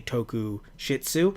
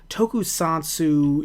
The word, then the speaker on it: Tokusatsu: Every time I want to get it right, I usually say Tokushitsu, so I have to try to just kind of sit there, close my eyes, say it over and over. The only way I can say it right now, for the most part, is saying Tokushoutsu, but I don't think that's how they wanted me to say it.